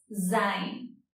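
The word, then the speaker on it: זין: La séptima letra es Zain y su sonido es Z, otro sonido que no tenemos en el español. Es como una S que vibra, Z.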